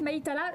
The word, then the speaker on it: Maïdela: Oui, alors son prénom s'écrit comme ça. Mais c'est Maïdela. Voilà, ça s'écrit Maïdela. Je le sais parce que j'ai lu là. Ça s'écrit comme ça, mais ça se prononce Maïtala.